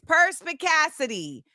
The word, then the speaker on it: perspicacity: All right, it's perspicacity. Perspicacity.